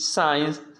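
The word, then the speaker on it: science: सी आपका साइलेंट रहेगा यस के बाद जो सी आता है साइलेंट होता है जैसे ए सेंट एक्सेंट साइंस टीचर्स में आपको दिखाई दे रहा है उसे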